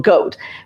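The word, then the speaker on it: Gaut: So my husband's, as many of you know, my husband's name is Goatum, but he goes by Gourd. But those of people who really know him, just call him goat. G A U T.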